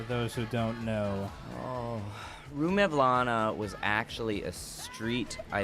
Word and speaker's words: Rue Mevlana: It's called Rue Mevlana. They're like, Rumawa.